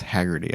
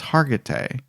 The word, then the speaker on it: Hargitay: believe so mariska hagerty i don't think it's hagerty i think it's hargitay anyway it doesn't matter